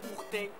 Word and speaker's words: Hourtin: Ourteng, Ourteng, Ourteng. On retient, c'est pas difficile. 2 syllabes.